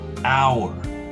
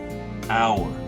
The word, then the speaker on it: hour: next word would be hour hour which in portuguese would be ora so in both cases here the h is silent you can see the